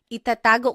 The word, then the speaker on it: itatago: Itatago ko yung pera. I will hide the money. Itatago. So again, you are just repeating the second syllable.